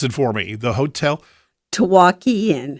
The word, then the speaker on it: Tawaki: A lot of folks gathered, a lot of excitement with pronounce it for me, the hotel. Tawaki Inn. Tawaki Inn.